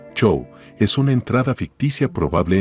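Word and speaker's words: Jo-Am: y peces japoneses yo am aparentemente pronunciado show es una entrada ficticia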